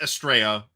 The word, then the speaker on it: Estrella: So this is how it's pronounced, Estrella, by everybody I've heard pronounce it.